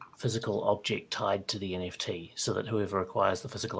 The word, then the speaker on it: NFTs: not frozen um and pick nft's nifties or how do you pronounce it i i definitely lean towards nfts yeah sorry about the